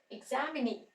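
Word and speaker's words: examinee: साथ लॉन्ग ई का यूज हो रहा है एग्जामिनी एग्जामिनी अब अगर हम इसको रनास करेंगे अगर हमने एम नहीं तो प्रोनाउंस है व स्ट्रेस केडिंग क्या होगा एमिनी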